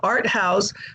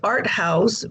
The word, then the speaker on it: ARTHAUS: So the Cedars to me is the corporeal body of a beautiful woman, you know, and the art house, it's spelled in the German manner, ARTHAUS.